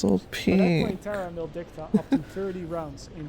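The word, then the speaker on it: Terra Maledicta: Now, not too long into the game though, a second map was released, which was called Terra Mildicta.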